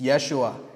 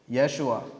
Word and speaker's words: Yeshua: But how do you pronounce the name? You guys know? Joshua is not Joshua. It's Yeshua. Yeshua.